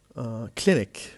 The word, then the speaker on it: clinic: Then we have clinic. The word clinic, 2 syllables, and the stress is on the first.